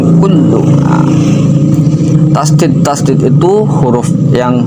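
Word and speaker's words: كُلُّ: Kul tasdid lam. Tasdid itu huruf yang double. Berarti di situ ada huruf lam dua ya. Yang pertama itu mati, yang kedua hidup berharokat domah. Maka dibacanya kan ing kullu.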